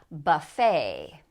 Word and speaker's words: buffet: Buffet. Buffet. Now, this syllable is going to be stressed, so notice that this U sounds like because it's not stressed. It's reduced to buffet.